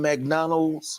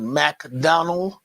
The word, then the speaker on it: McDonald's: a second ago 3M McDonald's or as my dad would pronounce it MacDonald no s I have no idea